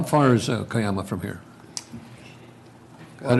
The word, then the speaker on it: Cuyama: And we also learned how to pronounce Cuyama, right? Cuyama. Cuyama, not Cayuma.